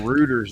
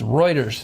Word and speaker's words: Reuters: what I'm talking about Reuters Reuters Reuters uh I used to work there so I know how to pronounce it uh yeah Elon Musk go to rooters man go to rooters it's Reuters it's a Canadian company owned